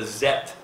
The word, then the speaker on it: Zeth: They were introducing the Zeth. It's spelled Z-E-T-H.